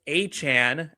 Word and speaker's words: Achane: Believe it or not, I am going to go and grab Travis Achane, as it is correctly pronounced.